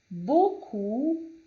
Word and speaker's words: beaucoup: pé, que significa paz, beaucoup, que termina em P, mas não é pronunciado, étudiant, que significa aluno,